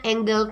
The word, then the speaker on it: Engel: Engel innopark Angle ya Jadi kami dia bacanya biasanya Angle ya karena kalau mau Angle kayaknya aneh gitu ya jadi apa sih kurva